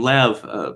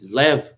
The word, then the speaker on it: Lev: you know is wrong is actually lev tolstoy and of course i'm not probably it's probably left like that you know russian is